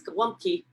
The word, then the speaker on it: Gołąbki: And this one is dated 1979, and the title is Gołąbki, which is a kind of Polish-American, Western Pennsylvania version of how you say cabbage rolls in Polish. Gołąbki, which the ants pronounce gołąbki, you know, cabbage rolls,